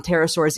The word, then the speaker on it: pterosaurs: Pterosaurs is spelled with a P.